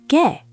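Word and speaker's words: 개: But dog is gae, spelled with ae.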